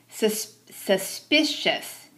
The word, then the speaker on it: suspicious: Suspicious. I like the way the word is broken into syllables and sounded out. The syllable in the middle is in all caps, so that's where you put the emphasis.